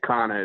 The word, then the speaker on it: Cana: We'll still be friends, but, but yeah, Cana is the name. Yeah. Yeah, Cana, it's spelled C-A-N-A, Cana Outdoors.